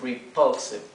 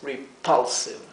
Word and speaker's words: repulsive: a decir it is repulsive, ¿sí? Y lo dicen exagerando la pronunciación de la P como para darle más énfasis al desagrado. Decimos repulsive.